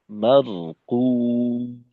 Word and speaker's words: مرقوم: লুৎফুল কবির ভাই, এখানে জি রয়ের উচ্চারণটা মারকুম স্থির রাখা। কিতাবুম মারকুম।